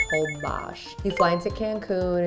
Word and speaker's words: Holbox: we went to hobash spelled whole box pronounced hold bosh you fly into cancun